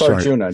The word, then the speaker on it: Arjuna: Well, it's Ajuna, right? Yeah. It's Arjuna, just like the classic Indian myth.